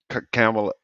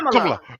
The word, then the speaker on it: Kamala: woman name is not no damn Kamala. It's Kamala. Kamala, Kamala. Kamala, Kamala. Kamala, Kamala. Kamala.